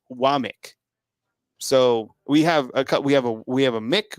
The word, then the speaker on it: Wommack: Yeah, and then same with like Womack, who they announced today, is it's Womack, how it's spelled Wommack, but it clearly says it's Womack.